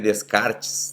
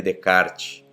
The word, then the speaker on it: Descartes: é sobre o Renê Decart, né? Falam que o que é que o se se lê se escreve Descartes, né? Mas ele é um francês e se fala Renê Decart.